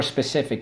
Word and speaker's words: specific: Soft C when followed by Y, I, or E.